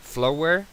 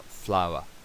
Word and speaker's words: flower: No se dice flower aquí, sino flower, flower.